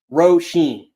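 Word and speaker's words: Róisín: So it's pronounced Roisin.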